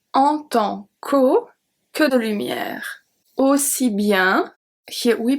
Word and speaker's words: lumière: The E is silent at lumière.